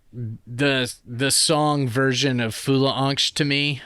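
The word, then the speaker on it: fyllesangst: yeah fol F yeah the second part of the word is like angst but that's the way they pronounce it it's f y l l e angst but they pronounce it fola an uh but anyway uh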